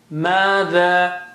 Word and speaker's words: ماذا: ماذا, equal stretches, okay? Same stretch on ma as it is on the.